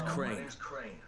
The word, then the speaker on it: Crane: No, my name's Crane. Crane? Crane rhymes with train and brain and sane and grain and rain and plane and the other kind of plane and but can I come in?